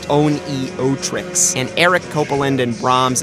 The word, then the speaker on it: Oneohtrix: It was Zek who introduced me to OPN, then pronounced Oneohtrix, and Eric Copeland and